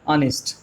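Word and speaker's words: honest: अब हमने कहा भी ऑनेस्ट, अब हम जब इसको बोलते हैं तो प्रोनाउंसिएशन इसका होता है साथियों, यस ऑनेस्ट, क्या होता है ऑनेस्ट। तो आ की साउंड है भाई, आ की साउंड वहां पर है, तो क्या कहोगे, एन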